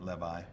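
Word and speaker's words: Lewy: that were written, Freelander, I always say Louis, but I think you should pronounce it Levi, something like that, and Katz.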